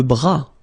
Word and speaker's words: bras: Le bras. Le bras. Same thing here. Final S not pronounced.